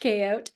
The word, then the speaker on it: Chaote: on Instagram asdot um everybody always ask like how do you say your last name well it's not my last name it actually means chaos magician and um it's pronounced koot so ask your K